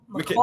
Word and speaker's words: Mikal Bridges: I keep getting corrected how I say his name. Mikal. Just imagine there's an I in there. Mikal. Okay, Mikal. Yeah.